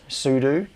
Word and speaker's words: sudo: the wrong syllable uh I've always I've always said it as sudo because what it's standing for is super user do I think I think